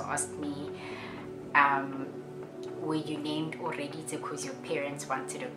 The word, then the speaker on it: Oreeditse: My name is pronounced Oreeditse. It's Tswana, it's a Tswana name, and my name means God was listening. In context, it means God was listening. Oreeditse, so he was listening, and just plain and simply just means listening.